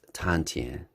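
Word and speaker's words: 丹田: you ever hear about tanjan in chinese it's pronounced as tantian according to traditional east asian medicine tanjon is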